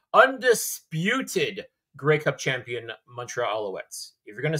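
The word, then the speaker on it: Alouettes: the reigning defending Undisputed gray Cup champion mtra aletes if you're gonna say it say it right please and thank you absolutely my apologies to the reigning defending Montreal aletes uh but Cliffy thank you so much for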